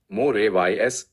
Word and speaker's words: mores: Depth: mors, pronounced more-ays, are folkways plus social welfare.